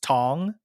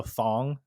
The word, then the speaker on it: Thong: older like we would always tell people it's pronounced tong the age of silent but a lot of people like when they see it their first thought is to go thong just because you know they don't really underst